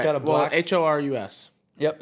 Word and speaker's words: Oris: Horus. Okay, Horus. Horus. Maybe I'm completely pronouncing that wrong. I think it's 2 R's. Horus. Horus. So I mean, I'll check it Oris just so people know.